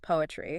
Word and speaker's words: PoAItry: Is just pronounced poetry. Ah. The AI is silent in the word, but it is definitely not silent in the methodology.